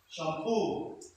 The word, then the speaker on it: shampoo: Words ending in E, O are usually stressed on the last syllable. Stress on the last syllable. So, for example, refugee, referee, guarantee, shampoo, taboo.